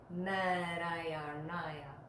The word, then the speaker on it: Nārāyaṇāya: The first na sound in Namo and Narayanaya, those are both made with the tongue going right on the back of the front teeth and then drawing back. Na, like that. Narayanaya. Now, there is a ra sound where we put that